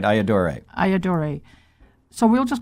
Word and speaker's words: Ayyadurai: You said it right, Ayyadurai.